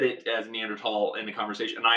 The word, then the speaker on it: Neanderthal: mishearing like did you are you saying th but with just with a very hard T in like am I